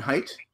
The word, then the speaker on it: Haidt: So the book we're going to be discussing is, and I think this is the proper pronunciation, Jonathan Haidt.